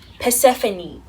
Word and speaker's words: Persephone: How do you pronounce that name? Let me just ask Google. Persephone.